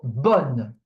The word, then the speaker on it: bonne: For this combination, so O-double-N-E, it's pronounced on, like on in English, like on off. You see, on. It's the same thing. It's on. Okay. For example, bonne, which means also good, but for feminine.